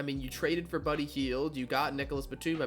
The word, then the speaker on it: Hield: Same with Buddy Hyde. I probably pronounced that name wrong. Buddy Hield.